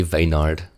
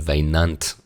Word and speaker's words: Vayant: This next one is from Fixed News and it reads, "Hey Vaynard." So it's actually Vayant and not Vaynard.